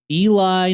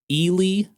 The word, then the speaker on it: Ely: opened some stores in Eli, Nevada, in Shannondoa, Pennsylvania. Uh, apparently that's not how they're pronounced. It's actually Elely, Nevada. Uhhuh. And Shendo, Pennsylvania.